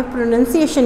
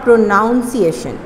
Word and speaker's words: pronunciation: तो इस तरह की प्रैक्टिस आपने प्रोनंसिएशन के लिए करनी है। This word is प्रोनंसिएशन नॉट प्रोनाउंसिएशन, although the spelling is PRONUNCIATION, प्रोनंसिएशन, प्रोनंसिएशन, प्रोनंसिएशन।